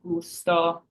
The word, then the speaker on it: gusto: means skirt and last we have Gusto so we have our G followed by a u which gives us that hard G again and Gusto means flavor